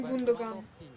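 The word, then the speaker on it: Gündoğan: połowę mecz zmieniony na gundog różnie mówią na niego chociaż ja wymawiam gundogan Oczywiście my nie jesteśmy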